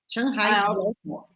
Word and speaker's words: Shanghai Jiaotong: Me ajude a pronunciar da melhor forma. Xangai Jiaotong University. University. Shanghai Jiaotong.